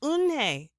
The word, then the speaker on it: Unhei: it's spelled u n h e i it's pronounced une oh it's you hey the boy said like